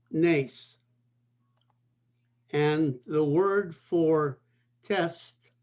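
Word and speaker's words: נס: The word for miracle is pronounced nes.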